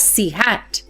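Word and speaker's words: ĉ: It's denoted by a symbol like a hat above the letter pronounced as C hat.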